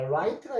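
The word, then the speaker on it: light: 라이 요거 t 발음만입니다. 자, 그러면 Gh는 소리가 없네. 자,요 소리 없는 것을 무음이라 그러죠. 안 쓰면 안 되고 있어야 되는데 소리는 내지 않습니다.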